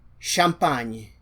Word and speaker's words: champagne: The next combination is C and H. This also happens with S and H. So this is pronounced as sh, sh, sh. As in champagne.